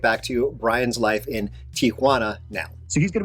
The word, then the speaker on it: Tijuana: I apologize in advance I know it's it's pronounced Tijuana I think even when I was making this video I knew it was pronounced Tijuana not Tana but learning a language is hard actually this